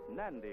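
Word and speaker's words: Nadi: N-A-D-I is pronounced Nandi in the Fijian language.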